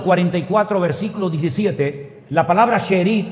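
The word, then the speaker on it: שארית: Miren, la palabra remanente en hebreo es una palabra que se pronuncia sherit. Vamos a ver, esa es la palabra en hebreo. Esa palabra se pronuncia sherit.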